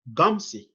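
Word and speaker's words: Ngumsi: and i told you it is gumsy it's an n in front of my name you don't pronounce that in if you pronounce that you'll be cursing my name will become a curse word and you'll be cursing god not me why because my name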